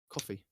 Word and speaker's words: Ko-fi: Coffee. It's coffee, isn't it? I always say it's Spelled with a Ko-fi.